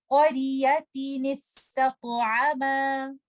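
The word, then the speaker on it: قرية استطعما: We will give the noon that is hidden in tanween a kasra and we will join it with letter sin, and then ta is light and ta is heavy, and we have to recite this ta with the qalqala. So we will recite this word like this.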